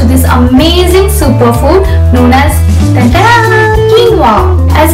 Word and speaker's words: quinoa: was some time back, they often call it quinoa owing to its spelling the way it's read, but the correct pronunciation is quinoa.